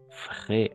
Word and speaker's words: frais: Frais. Ah, A-I, frais. A-I toujours est.